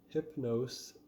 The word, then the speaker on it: Hypno5e: of preference, starting with Hypno5e. I think that's how you pronounce the band name. They've got a 5 where the S would be in that word.